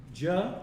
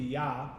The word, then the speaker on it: Jah: Jah is supposed to be Yah, right?